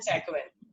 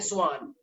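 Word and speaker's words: Schwann: कुछ लोग इसको बोलते हैं स्केलेटन एंड सैकवेन, ये स्केलेटन और सैकवेन नहीं है, इसको क्या बोलते हैं? स्लीडन एंड स्वान।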